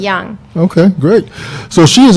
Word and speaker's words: Jung: The last name is spelled Jung. Okay. However, it's a soft J. It's a European pronunciation, so it's Young.